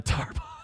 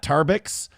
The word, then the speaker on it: Tarbox: That is Ariana Tarbox. There's no other way to pronounce that. It's not Tarbick. It's not Tarbok. That's Ariana Tarbox.